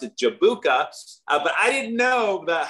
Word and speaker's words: Jabuka: European I think uh the word is spelled that way with a J is pronounced like a y and and it's like